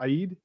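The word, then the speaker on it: Eid: of of ramadan uh it's pronounced aid uh the last week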